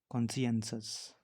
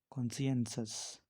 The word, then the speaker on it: conscientious: Next है कॉन्सियंसस। कॉन्सियंसस। इसकी जो स्पेलिंग होती है वो होती है CONSCIENTIOUS।